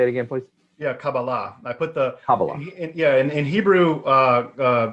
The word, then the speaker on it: Kabbalah: it again please yeah kabbalah yeah in hebrew uh uh typically the the stress is put on the last syllable um so kabala would be a would